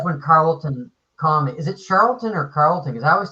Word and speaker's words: Charlton: how it's pronounced so it could be Carlton or Charlton I've always told Charlton yeah yeah like you said Joe Manley Charlton Charlton I heard somebody say Carlton oh you just mispronounced it okay yeah I thought it was Charlton because of the H you know but I